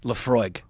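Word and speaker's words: Laphroaig: Lafroig.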